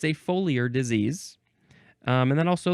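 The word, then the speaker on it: foliar: Next is folure. Folure. F O L I A R. It's a faux liar.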